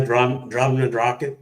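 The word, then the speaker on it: Drumnadrochit: So yeah, by drum and drocket and all of that.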